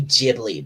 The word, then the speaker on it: Ghibli: spell the name of the studio again ghibli g-h-i-b-l-i something a little slower my my finger can't sight that fast on my phone some people say ghibli but it's pronounced ghibli g g-h-i ceo ghibli